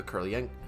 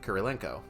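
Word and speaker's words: Kurylenko: frakes and starring olga curlien kurilenko i guess i was mispronouncing her name my bad it was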